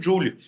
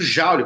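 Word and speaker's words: Joule: que é o efeito Juli o efeito Jaul como vocês falam né né a pronúncia correta é jul James jul ele consegue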